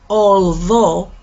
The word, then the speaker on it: although: it with me please gh you don't pronounce it so although she lives in the